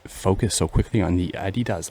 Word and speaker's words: adidas: she was correct so now i call adidas like germans do and it's it confuses people mostly i don't know why i do that because it's incorrect to say it like in english it's adidas so i think i